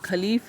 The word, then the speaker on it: caliph: अब ये जो ये खलीफ है CALIPH, इसको खलीफ भी बोलते हैं और कलीफ भी बोलते हैं, तो आप जो चाहे वो इसको प्रोनाउंस कर सकते हैं।